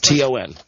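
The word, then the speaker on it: Thanh: T-O-N. Well, Ton. it's pronounced like that.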